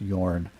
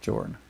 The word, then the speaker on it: Jorn: I heard somebody pronounce his name correctly, and I realized it's probably pronounced Yorn instead of Jorn, but whatever.